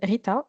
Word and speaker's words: Ghita: Je m'appelle Rita, ça s'écrit avec un GH mais ça se prononce comme avec un R.